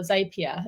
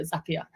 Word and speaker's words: Zapier: introduction into Zapier, or Zapier, as I like to call it, because, well, I just thought that was how you say it. But then obviously Zap means like zip quickly, isn't it? So Zapier.